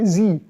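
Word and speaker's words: sie: है एस आई इ इसको प्रोनाउंस किस तरह करेंगे जी जी सी नहीं पढ़ेंगे जी पढ़ेंगे सो जी थिंक जी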